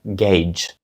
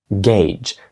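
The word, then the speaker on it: gauge: думаю ви могли вгадати як його сказати правильна вимова - це Gage Gage Gage означає датчик або вимірювати якісь дані наприклад датчик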